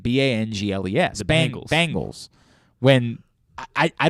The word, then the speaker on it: Bengals: Like the band. Bangles.